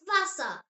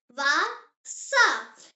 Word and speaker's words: Wasser: German W sounds like English V. Yes, V and W are completely switched around. Just remember that and you will be absolutely fine. The example word is Wasser. Say it. Wasser.